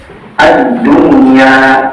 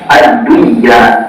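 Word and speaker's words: الدنيا: zhar mutlak zhar mutlak contohnya addunya tidak dibaca adunya tetapi yang ada addunyaun nah teman-eman sekalian keempat kata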